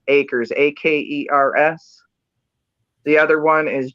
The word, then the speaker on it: Akers: Last name is spelled A, K as in Kimberly, E, R as in Robert, S. Akers, Akers.